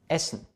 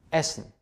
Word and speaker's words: essen: Oder essen, nicht essen, essen, ein kurzer Vokal vor einem Doppelkonsonanten. Kommen oder essen, zum Beispiel.